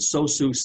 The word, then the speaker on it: SOSUS: I'll pronounce it SOSUS net.